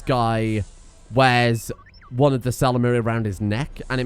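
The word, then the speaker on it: Ysalamiri: In the multiplayer, there's the Salamiri, I think is generally the accepted pronunciation of it.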